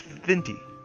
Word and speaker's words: Vente: It's Vente. Vente! The fresh breath maker. It does sound like a mint, mostly because it rhymes with minty.